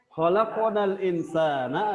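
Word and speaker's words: خلقنا الإنسان: Maka hukum bacanya adalah ikhfa. Dibacanya adalah ikhfa. Apa itu ikhfa? Artinya samar-samar. Khalaqnal insana. Seperti itu bacanya.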